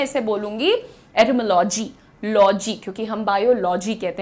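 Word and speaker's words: etymology: अभी बहुत रिसेंटली तक बहुत कंफर्टेबली कहती थी एटाइमोलॉजी। लेकिन दोस्तों आप यहां पर ध्यान से देखिए। इसका प्रोनाउंसिएशन तो मैंने लिखा ही नहीं। ओ ये रहा। ठीक है? ये रहा प्रोनंसिएशन। इट इज़ एटमोलॉजी।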